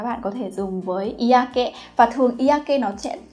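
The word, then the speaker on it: 嫌気: Hiềm khí thì có thể là mọi người sẽ nhầm đọc là kenki. Có ai đọc nhầm như vậy không ạ? Nhưng mà cái từ này á, cái đọc của nó sẽ là iake. Nhớ nhá, iake.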